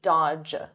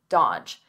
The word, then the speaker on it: dodge: Notice here the D is silent, the middle D, dodge, dodge.